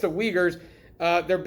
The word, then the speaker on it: Uyghurs: on anything you wouldn't if you read that word you probably wouldn't pronounce it that way but that is the way it's pronounced the uyghurs uh they're it's basically